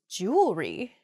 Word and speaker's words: jewelry: we say jewelry instead we miss that that second e sound in there it should be jew